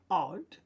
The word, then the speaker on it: od: If we look down here, od, we notice the ayin's not pronounced.